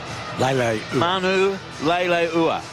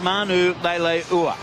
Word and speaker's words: Manu Leilua: Fletcher Hunt and Francis Manu Leilua. Manu Leilua. That's right. I was looking at the wrong one. I've been given 3 pronunciations, but we have heard from the man himself. Francis Manu Leilua is in the 19 jersey.